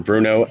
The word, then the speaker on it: Bruneau: Don't ask me what I used to say it was, but it was not Bruneau.